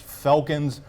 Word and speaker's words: Felkins: And one other thing, it's Felkins, not Ficken, because if they had Sam Ficken, it'd be in a good spot with the kicking game.